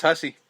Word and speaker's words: Hussey: There's got to be another way to pronounce this. There has to be. There's no way. Who say? That's what I thought. I was hoping, but no, it's Hussey.